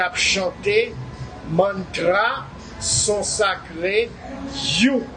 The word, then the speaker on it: HU: chanté mantra, son sacré, You, qui écrit H-U, mais qui prononce You, m'a propose, m'a tourné tout à l'heure.